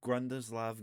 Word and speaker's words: Grundislav: to pronounce this right, Grundislav Games. Yep, that's correct. Okay, good. Grundislav or Grundislav, I don't really think it matters.